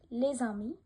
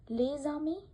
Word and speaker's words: les amis: So maybe you have noticed that I pronounced lez-ami, vous avez. So here, remember, then first word ends with consonant S and the following word starts with a vowel, then S pronounced as Z.